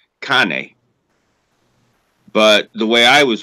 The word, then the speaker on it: cane: Like in Italian, it's how you say dog is cane. But the way I was always taught when I was a kid, it's gane.